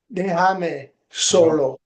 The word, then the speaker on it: Déjame solo: Déjame solo. So the accent has to be on the first syllable.